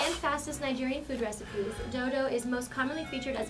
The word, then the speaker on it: dodo: She was like, dodo. I pronounce it dodo. Yeah, you know, because I have a strong voice, so I can pronounce it right.